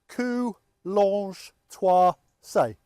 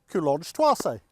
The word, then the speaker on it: Coulonges-Thouarsais: Well, this is our village and it looks complicated, but if you think of it in 4 syllables, Coulonges-Thouarsais. Coulonges-Thouarsais.